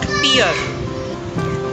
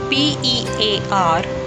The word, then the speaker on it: pear: It's not pear. P-E-A-R, pear.